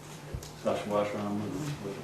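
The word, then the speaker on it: Sacsayhuamán: Sashwashram, is the right way to pronounce it, in Peru.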